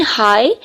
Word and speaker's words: high: अगर हम first one को देखें, हाई को देखें, इन हाई दे आर साइलेंट.